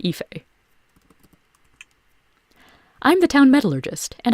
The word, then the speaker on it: Fá: been something besides black i'm fá it's pronounced fa I'm the town metallurgist